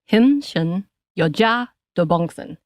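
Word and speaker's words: 힘쎈여자 도봉순: So the Korean pronunciation, and I'm trying to really get into my culture, is 힘순 여자 도봉순.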